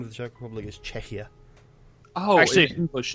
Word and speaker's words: Czechia: is it czechia now it's spelled like Czech but with an i a right on the end of Czech so it's czechia cze before before we